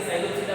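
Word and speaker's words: Psilopsida: इसमें सभी के लिए रहता है कि पहला वेजिटेबल अगर सब में साइलेंट रहता है, जैसे कि साइलोप्सिडा में भी साइलेंट रहेगा, साइलोप्सिडा, लाइकोप्सिडा, स्पिनोप्सिडा, टेरोप्सिडा में भी पी साइलेंट रहेगा।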